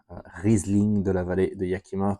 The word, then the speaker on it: Riesling de la vallée de Yakima: Riesling de la vallée de Yakima, to pronounce this properly.